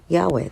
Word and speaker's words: Yahweh: And they're actually spelling it YHWH. And so I'm just pronouncing it Yahweh, the creative principle.